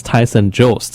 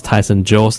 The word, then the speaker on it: Tyson Jost: And actually, that's Tyson Jost. I know during the regular season, I mispronounced his name many times, but his name is Tyson Jost, and again, that's the regular season scoring leader for BC Major Midget League.